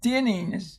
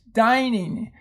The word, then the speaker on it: dining: we had up there next we have dining they were dining out do not call this dinniness dining if you want Denny